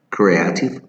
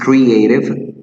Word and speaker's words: creative: Many people say creative. Really is creative, right? So the letter E sounds like an E, creative. So the letter of the alphabet keeps the pronunciation.